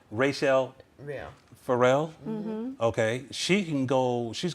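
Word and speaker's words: Rachelle Ferrell: sing like denise so like rochelle farrell rachel let me say it right is it rachelle pharrell okay she can go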